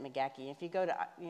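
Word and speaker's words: McGaheysville: up in rockingham county mcgackeysville yeah and that's just it's the it's the megaki family and that's just that's that uh scotch irish accent that's how they said at mcgaki if you go to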